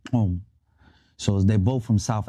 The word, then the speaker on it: gqom: I heard Amapiano, and I heard another style of music called Qom.